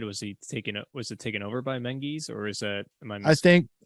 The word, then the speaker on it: Menzies: It looks like Menzies, but you pronounce it in their vernacular as Menzies.